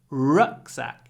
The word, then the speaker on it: rucksack: In English, it's always on the first syllable. Feedback, notebook, rucksack. So be careful with those words.